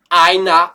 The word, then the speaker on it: einer: bien fait d'insister là-dessus, ER en fin de mot, sauf s'il y a un I avant, ça se prononce comme un A. Alors arrêtez de me dire einer.